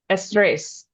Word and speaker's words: estrés: What is estrés? I got to put the accent on the end.